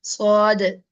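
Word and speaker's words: ص: Next one is swad, swad. Whenever I'm here pronouncing this letter, you can understand that there is a heavy sound.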